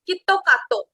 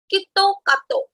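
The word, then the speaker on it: キットカット: And its pronunciation in Japanese is Kitto Kato. So Kit Kat in Japanese pronunciation or in Japanese accent, we call it as Kitto Kato, which is similar to Japanese word Kitto Katsu.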